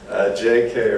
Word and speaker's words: J.K.: So he had the newspaper publisher actually spell it out, J-A-Y-K-A-Y, to get the point across that he is J.K.